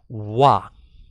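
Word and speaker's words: は: a topic about it instead of calling heart you pronounce as wah so in this situation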